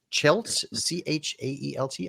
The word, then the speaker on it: Chaelt: And then the last one that's kind of cut off here, I guess, is Chaelt, Chaelt. I'm not quite sure how to pronounce that. Steph says yes, correct.